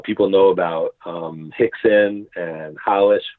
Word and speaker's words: Rolls: So people know about Rickson and Hollish, where you say rolls or holds, but Hollish is the right way to pronounce that.